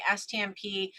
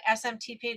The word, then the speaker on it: SMTP: go and find the stmp i actually exactly exactly did i say it wrong smtp do i say stm perfect the one thing about